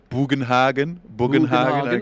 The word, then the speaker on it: Bugenhagen: bugenhagen ah yeah yes for pronouncing the German name in a German way bugenhagen I mean I like that sounds good to me sounds very German I mean probably how